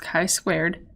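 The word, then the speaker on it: chi-squared: squared this is like an x squared it's pronounced chi squared test hypothesis regarding the entire probability distribution so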